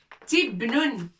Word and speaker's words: تبن: Ta avec kasra pour prononcer ti. Ba avec soukoun. Noun avec tanwin. Nun. Tibnun.